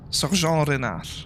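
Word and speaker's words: Renard: body of uh Sergeant Reinard or Rear, but technically if it's French, um Rear, that's how you pronounce it.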